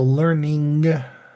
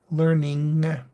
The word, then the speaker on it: learning: as strongly nasalized but do remember to pronounce that g in the sound so learning learning that g sound is a very weird sound in learning but it's necessary to